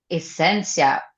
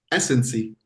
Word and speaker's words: Esancy: And now I'm very very happy to receive Sasha and Cynthia Essencia. Oh, how do you call it? Essencia. Essencia. That's that's very nice pronunciation. I like it. But it's Essency. Ah, Essency. Sorry.